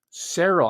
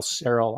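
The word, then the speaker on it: Seryl: mispronouncing your name but i see it as it's spelled s-e-r-y-l cereal like i'm pronouncing it and her maiden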